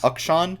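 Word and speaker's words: K'Sante: Jace, Viego, Rise, Ezreal, Rakan, and that was into, I'm going to pronounce this wrong, Ukshan, right? Is that correct? Yes. Ukshan, Sean.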